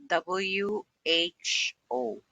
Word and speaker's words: who: Usually, when WH is followed by O, WH is pronounced. W, H, O.